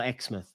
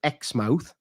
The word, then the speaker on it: Exmouth: ever been called exmouth which we would call exmouth like in Southern England right yeah but they pronounce it X mouth okay and there was